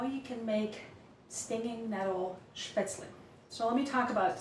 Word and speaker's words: Spätzle: We say Spätzle in German. If you pronounce it a little bit more Americanized, it would be Spätzle.